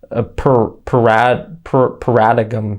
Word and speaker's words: paradigm: Moxley is banned from using his paradigm shift move. Paradigm shift. Moxley, why do you have a G in that word if you're not pronouncing the G? Just get rid of it.